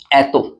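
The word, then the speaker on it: atto: और ये होता है एतो, चाहे ए से होता है ये, एतो।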